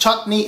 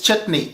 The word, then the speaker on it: chutney: It is not pronounced chutney, it is chutney, okay?